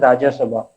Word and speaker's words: Rajya Sabha: time isn't it tanishka one correction was there in your lecturing it is rajya sabha the upper house of parliament and you pronounce it that is rajya sabha isn't it okay sir